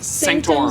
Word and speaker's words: Sanctorum: Sanctorum.